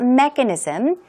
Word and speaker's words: mechanism: get bigger and bigger what about mechanism stress goes right there on this first syllable and some synonyms are